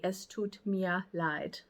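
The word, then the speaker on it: es tut mir leid: a similar way of saying that I'm sorry es Tut Mia lied so that's how you say that uh excuse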